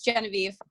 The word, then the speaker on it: Genevieve: You can just do, but it's Genevieve.